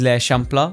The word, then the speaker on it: L'Eixample: The next place on our list is l'Eixample, which I had to ask for Ainoa to basically explain to me how to pronounce that.